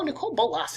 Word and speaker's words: Nicol Bolas: Oh, Nicol Bolas is super cool, but but I'm hoping we get an intro deck.